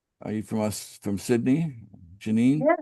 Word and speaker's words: Janine: Is that how you pronounce your name? Are you from Sydney? Janine.